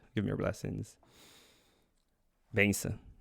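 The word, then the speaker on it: bênção: Benção, benção. That's how you say it.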